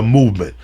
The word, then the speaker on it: MVMT: to you about it mvmt watches all right pronounce the movement was founded on the belief that style shouldn't